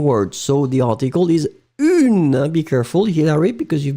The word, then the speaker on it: une: Be careful, Hilary, because you've been writing un, but in fact, I've been really pronouncing the feminine form une. D'accord? Une tarte. Kangli, be careful, it was not un tarte, but it's really une tarte.